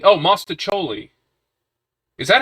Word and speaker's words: mostaccioli: It's pronounced mostaccioli. Oh, mostaccioli.